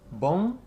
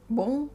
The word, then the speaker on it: bom: Okay, so as a guide for pronunciation, it's not bom, you don't close your mouth. You'll just say bom. Bom. B-O-N-G. Yeah, but without the G, so bom.